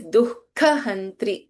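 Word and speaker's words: दुःखहन्त्री: But you know that we pronounce this particular word differently because the Visarga followed by Kha, we do not chant the complete Visarga here. It is Dukkha Hantri, half Visarga.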